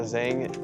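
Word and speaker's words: Tzeng: So, what is your first and last name and how do you spell it? Zang.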